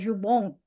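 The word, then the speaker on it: ズボン: zubong zupong celana panjang ya zubong dari bahasa Prancis jupong jupon jupon Tapi pelafalannya zubong. Zubong. Nah, dalam bahasa Jepang jadinya zubong celana panjang.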